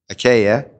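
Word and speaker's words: Achaia: two most popular were aka akiya and akaya i think i'll go with the kya you can make your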